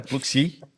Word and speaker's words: Pluxee: E talvez vamos começar pela Pluxee, que eu estava falando errado até agora, é Pluxee, deixa Pluxee marcado. Que tem que trabalhar muito com escala. Eu pronunciava Sodexo.